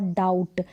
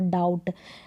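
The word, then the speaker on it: doubt: क्या है डेट और डाउट टी का तो उच्चारण हो रहा है लेकिन टी से पहले जो बी है इसका उच्चारण नहीं होगा इसको दबत नहीं पढ़ेंगे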